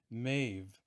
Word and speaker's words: Maeve: And then over here, we see Queen Maeve. Or I've heard some of the Celtic scholars pronounce it Queen Medv.